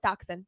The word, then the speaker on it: dachshund: know dachshund dachshund dachshund why do people say Dasha because that's how it's spelled okay but it's pronounced dachshund dachshund that's very common mistake dachshund terrier mix